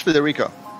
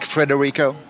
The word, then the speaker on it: Federico: federico federico so yeah it's weird to pronounce in english yeah because most people pronounce it like frederico they bring too many hours in there oh okay yeah yeah so so it's more like fed right like like yes